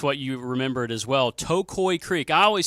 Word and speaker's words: Tocoi: it's you kind of think about your big to a toe and then think of a koi fish cuz a lot of people say a koi and but that's the I guess the official pronunciation well that's going to